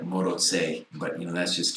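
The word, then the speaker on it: Maróczy: instead of alioshi and moroxy is actually pronounced something bizarre like moto sei but you know that's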